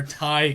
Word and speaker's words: Ti: card so i wouldn't they're thai cards so i guess technically they're thai and don't worry i mispronounced them for the longest time too so it definitely